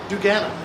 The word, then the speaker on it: duganA: duganA.